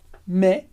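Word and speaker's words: mais: todavia me me E você já sabe que a gente pronuncia me porque a gente não lê o s do final e o ai e você sabe que a gente pronuncia me porque a gente tem o s no final que a gente não lê e o ai como Regra geral tem som de E então i me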